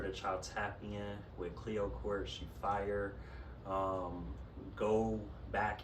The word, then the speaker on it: Cleöcrt: pleasure of meeting in return my name is Cleo Court it is spelled c-l-e-o-c-r-t -c-l-e-o-c-r-t-n- I am on every social